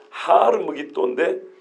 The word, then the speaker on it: 하르므기또: 그래서 발음에 따라 원래는 하르므기또인데 발음을 쉽게 해서 아마겟돈이라고 하는 거예요.